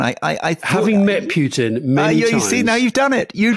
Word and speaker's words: Putin: help but tell him he's been saying putin wrong all his life it's putin not putin now in russian and then